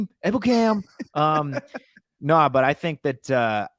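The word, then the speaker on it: Ebukam: Samson Ebicom, I think, is going to be the number one guy. Oh, I'm glad you said it right now, like Jason Witten. Yeah. Ebiku? Ebicam.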